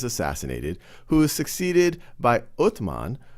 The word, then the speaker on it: Uthman: He's succeeded by Umar, sometimes pronounced as Omar, who then is assassinated, who is succeeded by Uthman, sometimes pronounced as Usman, who is then assassinated, and then Ali takes power.